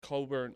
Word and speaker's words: Cockburn: up soon too which that's going to be coburn cockburn and uh dickinson you actually